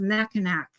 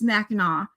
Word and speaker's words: Mackinac: Like Mackinac, everyone says Mackinac, and it's not. It's Mackinac. And I'm trying to. There's a lot like that. I'd have to look at them to think about it. But Mackinac is the biggest one,